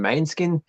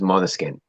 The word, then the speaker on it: Måneskin: Australian bogans call them Mainskin. The correct pronunciation is Måneskin.